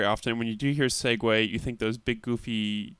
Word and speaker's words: Segway: So I was pronouncing Segway as Sieg because like that's what the word looks like.